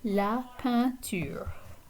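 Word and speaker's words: peinture: musique la panteur okay so the the e i combination here is a nasal vowel so it sounds like la pantier okay a few other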